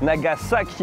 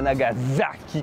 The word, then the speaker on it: Nagasaki: Oui, parce que ça se prononce Nagasaki et pas Nagasaki comme ça.